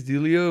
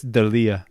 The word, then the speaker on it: D'Elia: All I could think about is Chris D'Elia when he's like saying this joke about the Cubans. Do you remember that shit? Oh, I'm gonna correct you. He's like, Chris D'Elia.